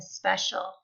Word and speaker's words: special: a story about a special this is how we spell special SP c i a l the c i makes the sh sound spe special hero okay so